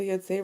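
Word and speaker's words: יוצא: Ein yotzei, so yotzei rhymes with like shomer, right?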